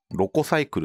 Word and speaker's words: LocoCycle: あれ、ロコサイクルって読むんですけ